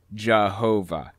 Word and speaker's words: Jehovah: yaho and of course using a German accent y's are pronounced like J's and W's are pronounced like V's so as it passed through the Germanic region it morphed into Jehovah eventually when the King